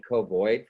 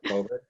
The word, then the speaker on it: COVID: I think I mispronounced, I think I said covoid for some reason instead of COVID.